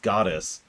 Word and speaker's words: Gades: Gades' name would be pronounced Goddess in Imperial.